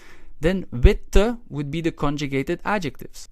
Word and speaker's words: wit: a long fashion however wit in the original adjective is pronounced short so we need to